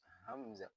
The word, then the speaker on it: hamza: The second one is hamza. Hamza. So we will use a deep voice when pronouncing this one.